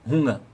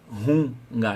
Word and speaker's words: Hunger: Eu lembro, acho que é ich habe Hunger.